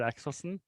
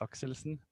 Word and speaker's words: Axelsen: So I'm Axelsson. The pronunciation in Norwegian is Axelsen, but the English one is perfect.